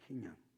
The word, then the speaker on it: 희년: 다른 말로 희년이라고 해요 희년 무슨 년 발음을 잘 해야 됩니다 희년이라고 언제 오느냐 50년째